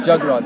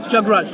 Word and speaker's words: Jagraj: Jagraj. Like a jug and then the raj. Jagraj.